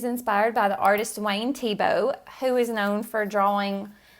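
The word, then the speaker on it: Thiebaud: one of my top three favorite artists Wayne tebow you don't know about when tebow search for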